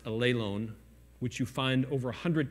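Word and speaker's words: ἀλλήλων: I don't know if you're familiar with that, but there's a Greek word that's pronounced allelon, which you find over 100 times in the New Testament.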